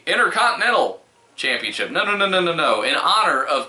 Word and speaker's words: Intercontinental: Intercontinental. There are 3 T's. You have to pronounce them all.